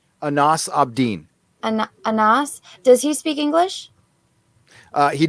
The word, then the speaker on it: Anas: Does how do you pronounce his name? Anas ABDIN. Anas.